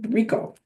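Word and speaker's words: Richo: Rico, like Rico charges, like that's how you pronounce it. Rico.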